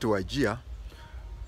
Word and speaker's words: Wajir: We down Kenya people call it Wajir, J-I-A. But Wazungu wrote it Wajir. So you'll find a lot of writing, they write Wajir, but pronounce as Wajir.